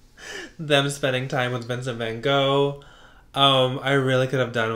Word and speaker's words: Van Gogh: I mean, my God, he looks just like Van Gogh, apparently, is how it's pronounced.